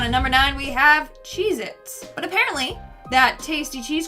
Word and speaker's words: Cheez-It: number nine we have cheez-its but apparently that tasty cheese cracker is not called cheez-its it's cheez-it either i've been saying it wrong my entire life or this is proof